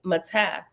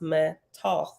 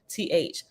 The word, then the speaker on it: Mattath: the related word Matanah, the word Mattath means gift and is pronounced Matoth. I was saying it wrong. Mat, Matt-Tawth, Matoth.